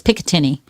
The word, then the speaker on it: Picatinny: New Jersey, to include Picatinny? Is that how you say it? Piccadilly? No, it's Picatinny.